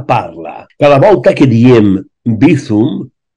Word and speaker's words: Bizum: és Cancelo, Vinicius, UCI, Mice, Acicom, Amazon i Bizum. Donat que la C es pronuncia tal qual C i no C a la castellana, i en valencià la Z sempre és sonora.